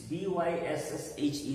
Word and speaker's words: Bysshe: This B-Y-S-S-H-E, the second name in his name, that is pronounced as Bysshe.